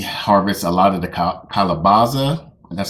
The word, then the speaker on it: calabaza: Naked Gardener, she harvests a lot of the calabaza.